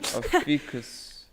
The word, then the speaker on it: Ophiuchus: How do you pronounce that? This is why I didn't try. Ophiuchus.